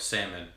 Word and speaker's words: salmon: the life cycle of salmon or as my co-workers parents pronounce it Sam Salman Salman um live in North